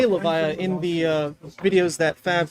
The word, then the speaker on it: Levia: it's Levia, dang it! How does no one say it properly?